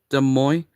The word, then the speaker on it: Des Moines: Like, we already have, like, 3 Des Moines is how it's pronounced, but I've seen a flight attendant pronounce it wrong before.